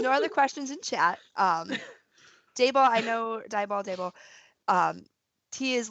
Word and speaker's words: Daebol: It's at Daebol, Daebol. That's the correct pronunciation, by the way.